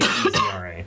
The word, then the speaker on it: Ezra: There's only EZRA. There wasn't an extra syllable that I just added. Ezra. Yeah, there's not an extra E in there.